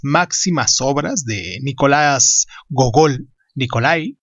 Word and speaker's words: Nikolai: Hoy aquí en Crónicas Lunares hablaremos de Las almas muertas, una de las máximas obras de Nicolás Gogol, Nikolai, como se pronunciaría normalmente, Nicolás Gogol, perdón.